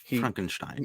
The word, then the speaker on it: Frankenstein: it pronounces it frankenstein frankenstein yeah he says it correct he says it the gene wilder way yes he's a professional